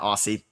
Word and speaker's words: Aussie: It's pronounced Aussie, not Aussie. Thank you.